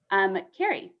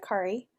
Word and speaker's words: Carrie: Carrie. Hi, I pronounce it Kari.